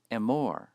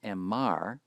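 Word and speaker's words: אֱמֹר: So in order to express the command say, it's pronounced emor. Emor. Notice the holam, not emar, which is a hypothetical non-existent form.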